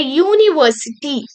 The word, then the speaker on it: university: See sounds like yes, you U is there, right? But this is not considered as vowel sound. Okay, U is there. A, E, I, O, U. But this is y o u. So this is also considered as consonant sound.